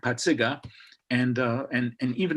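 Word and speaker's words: Pacyga: and and everybody knew how to really pronounce my name which is not but patziga and uh and and even the mexican kids know me as potsiga because that's what everybody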